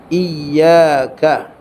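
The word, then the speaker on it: إياك: jumhur ulama membacanya dengan membubuhkan tasdid pada huruf ya pada kata iyaka tahu tasdid tak tasdid maksudnya sabdu huruf ya Maksudnya kita kena sebut iyaka ha tak boleh kata iyaka na'budu wa iyaka nastain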